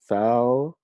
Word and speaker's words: Falchuk: Ryan Murphy, like with a lot of these shows, he co-creates them with Brad Falchuk.